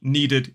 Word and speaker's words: needed: So want is one syllable, wanted is two syllables. Need is one syllable, needed is two.